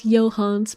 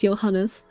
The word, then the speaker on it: Johannes: This is also why I refuse to pronounce this guy's name as Johans because his name is Johannes.